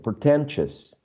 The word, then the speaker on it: pretentious: next one pretentious pretentious so this uh cluster of vowels right i owe you in all of these words is reduced to a schwa if you uh pay attention this last syllable is never stressed no one says ambishus or koshos so as this is an unstressed syllable is reduced to a weak syllable which is uh almost